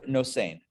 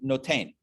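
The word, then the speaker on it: נותן: Next question is, it uses the word nosein, or in Sephardi and Israeli pronunciation, notain, which means I have given.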